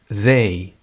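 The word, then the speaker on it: they: وي وي انتم وانتم زاي لاحظ بان هذه تنطق كما هو الحال في حرف ذال المعجمه باللغه العربيه الان سنتعلم استخدام هذه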